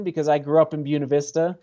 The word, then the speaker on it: Buena Vista: there in uh in puny beauty as we as we call it they call it puny beauty that's i mean yeah the real locals call it puny although it is growing